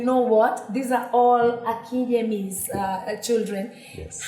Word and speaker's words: Akinyemi: Akinyemi. Akinyemi? Yes. So we are good. We're trying. But you said something. No, you said Akinyemi. Akinyemi, yes. Nyemi. Yes. So it's Nyemi, not Yemi.